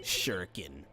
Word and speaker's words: shuriken: the best shuriken in the game the evil shuriken shuriken now pronounced shuriken it's not crash sure weaken if